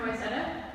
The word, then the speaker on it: Wayzata: I'm from Wayzata. Where? Wayzata. Wayzata? Mm-hmm. Wayzata. Wayzata? Yes, What? that's how you pronounce it.